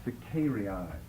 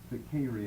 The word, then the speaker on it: Sicarii: 3 occasions, but according to Josephus, they definitely do figure into the time of Antonius Felix, the Sicarii. Let me spell it.